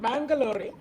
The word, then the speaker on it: Bangalore: psychology from christ college bang correct did i pronounce it right bangalore okay bangalore and bachelors of psychology honors from